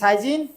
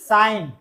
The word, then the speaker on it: sign: যেমন এটার উচ্চারণ কি? SIGN, সাইজিন। সাইন, সাইন।